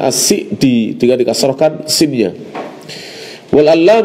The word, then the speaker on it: as-Sa'di: Abdurrahman Bin nashir as-sa'di sebagian orang bacanya sakti tapi guru kami Aceh adductor sholeh bin hammad bin Abdillah al-husainy membacanya asyik di tengah didasarkan Symbian Belle